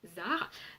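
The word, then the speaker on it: Xar: reine des guerriers, et Zar, donc ça s'écrit avec un X mais ça se prononce avec un Z, donc il s'appelle Zar, qui est pareil le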